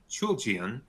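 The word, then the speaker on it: Chooljian: California Magistrate Judge Jac Jacqueline chulian and I looked up that pronunciation that is how it seems to be pronounced uh noting that Bedford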